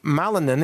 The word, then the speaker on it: Malinen: Malinen, M-A-L-I-N-E-N, or you could think of it as Ma-Linen.